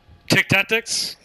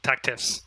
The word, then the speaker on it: TacTiffs: Tick tactics. Or tactifs? The tactifs. Sorry, tactifs. I got the name wrong.